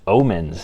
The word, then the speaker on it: Ohman: But anyways, guys, this video is a little bit about the new Brunt Omens. And yes, that's what they're called, the O-H-M-A-N. I checked that's how they're pronounced, and I know I've pronounced these as Marlins in the past.